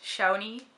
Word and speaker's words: Shaunie: My name is Shaunie. Um, I would pronounce it as Shai though, but it depends on who I'm talking with.